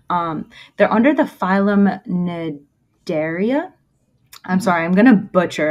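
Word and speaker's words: Cnidaria: by yeah because like looking at the word nidaria you would not say that that's how that's pronounced because it starts with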